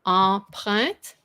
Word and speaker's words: empreinte: This one is in empreinte.